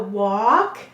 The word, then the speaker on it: walk: do too do you see how walk and talk both have the same a ah and a broad or a silent l to help it say it's broad sound and what does this